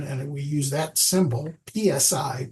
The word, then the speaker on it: psi: we use that symbol PSI pronounce I pronounce it Sai like when you SI